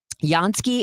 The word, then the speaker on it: Jansky: Jansky is spelled with a J. Looks like Jansky, Jansky, Jansky.